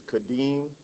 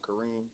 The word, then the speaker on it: Kadeem: also, my name is Kadeem, not Kareem, but I guess they What?